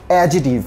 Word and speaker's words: adjective: I want you to focus a little on the pronunciation of this word which is adjective so in that case you don't sound D and you don't sound C in here so you're going to sound that adjective yes we are going